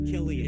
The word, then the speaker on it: Cillian: It is Cillian.